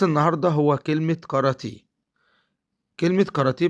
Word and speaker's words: كاراتيه: كلمة كاراتيه بتتكون من 3 مقاطع صوتية. المقطع الأول عبارة عن حرفين، حرف الكاف والألف، وبيتنطق قا، زي ما بقول كلمة قاهرة، بقول قا قا. المقطع الثاني عبارة عن حرفين، الراء والألف، وبنطقها را را، زي ما بقول كلمة رام الله، بقول را را.